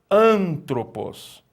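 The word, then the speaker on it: ἄνθρωπος: E a aspiração branda, suave, está mostrando para nós que essa palavra ela não sofre nenhuma modificação na pronúncia. O alfa é pronunciado normalmente, porque ele está aspirado com aspiração suave ou branda. Então não há uma alteração na pronúncia do alfa. E nós pronunciamos como antropos, que significa homem.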